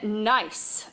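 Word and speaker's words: gneiss: be shale and then nice the g is silent here nice not good ice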